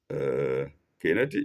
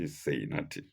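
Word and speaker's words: Caetani: Kainati is spelled capital C-A-E-T-A-N-I. In case I don't call it well, some people may say Seinati.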